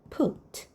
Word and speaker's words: put: 배운 대로 읽으면 이렇게 쓰는 거예요. 근데 이거는 맞는 소리가 아니죠. 얘는 두다 놓다. 푸신 거예요. 실제로 읽어보면 put. 이렇게 소리가 나요.